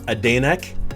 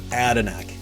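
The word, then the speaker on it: Adanac: uh it has been i've heard it pronounced adeneck uh adanak uh the locals call it adenac adenac street which by the way incidentally is canada spell backwards attanak um oh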